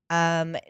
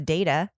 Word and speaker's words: Deida: Dieda. David Dieda. Do it again. David Dieda. God, David Dieda. Deida.